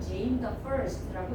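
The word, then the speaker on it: James I: 제임스 i 이렇게 읽기도 하긴 하지만 실제로는 제임 the first라고 읽으셔요.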